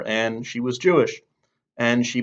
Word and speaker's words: Ayn: I think it's pronounced either Ayn or Ann.